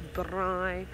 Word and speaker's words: braai: For those of you who don't know what a braai is, a braai, I should roll my R's and say it properly, a braai, B-R-A-A-I.